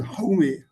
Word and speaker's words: Jaume: Then I taught a course at the Jaume University, Jaume, actually Jaume, it is pronounced as Jaume, Jaume, that is in Spain.